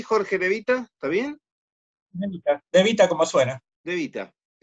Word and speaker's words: De Vita: ¿Se pronuncia así, Jorge De Vita? ¿Está bien? De Vita, como suena.